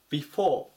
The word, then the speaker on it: before: を待つ 204 番 bef bef 後ろを強く読みますここの O の